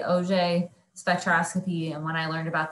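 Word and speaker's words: Auger: about it you say OJ spectroscopy when I learned about this technique uh there's a big picture of orange juice to remember like say like OJ OJ spectroscopy um to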